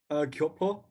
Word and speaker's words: Gyopo: All right, our next finalist is Timothy Choi with his script, Gyopo. Am I pronouncing that correctly? Yeah, it's pretty close. Oh, that's not correctly. How do you pronounce it? Gyopo.